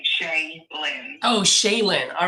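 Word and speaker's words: Shailyn: Oh, Shaylin.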